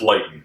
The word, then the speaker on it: Leighton: But it rhymes with Leighton.